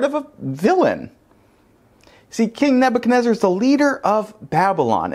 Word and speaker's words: Nebuchadnezzar: can use anyone today we're looking at king nebuchadnezzar in case you're wondering that is in fact how you pronounce that name and yet here we are